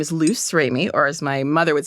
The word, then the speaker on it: Luce Remy: So, it's written like the Italian, pronounced like the French, but I'm an American.